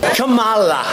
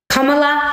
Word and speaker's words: Kamala: __ ] president so let's learn to say her name correctly Camala nope that's not it not even close Kam Harris has been